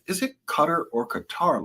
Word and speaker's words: Qatar: is it cutter or Qatar? Like they're confusing me on TV and I said it's Qatar. I said only silly people who follow others say cutter. It's Qatar cuz the country's name is Qatar.